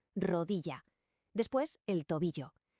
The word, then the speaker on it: rodilla: Atención a la pronunciación de la doble l. En la mayor parte de España suena como la i en yes, rodilla.